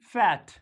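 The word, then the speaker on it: fate: बेड लेकिन बी एडी बैड एफ ए टी फैट F eighty फैट लेकिन अगर ए के इसके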